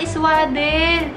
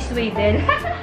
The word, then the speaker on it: swaddle: yung swad pronounce ayan ah swaddle swaddle pala hindi siya sadle Oo Thank you Maring